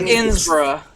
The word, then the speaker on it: Innsbruck: Boy, this place Yeah, be hello, Einsprost. fucker. This place not be Einsprost, it's Einsprost. Iron's Frost. It's pronounced Innsbruck.